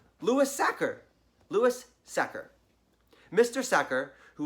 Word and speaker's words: Sachar: pronouncing his name wrong it should be pronounced sucker like someone who tackles quarterbacks or stuffs potatoes into sacks a sacker Lewis sacker Louis sacker mr.